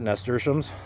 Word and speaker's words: nasturtium: I learned how to pronounce it, nasturtiums, thanks to Kevin from Epic Gardening, to learn how to pronounce that, nasturtium.